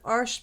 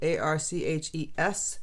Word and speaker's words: Arches: Um, I'm using a 4x6 piece of arch paper. That's how you say it. Arch. It's spelled A R C H E S, not Arches. And the French term, it's arch.